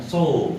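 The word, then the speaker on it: そう: O sama u itu dibaca panjang so, ya. Bukan so tapi so, ya.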